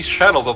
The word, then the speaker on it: Shelob: Again, it's technically Shelob, but for some reason the game mispronounced like her initial part of it is supposed to be a pronoun, when it really is not.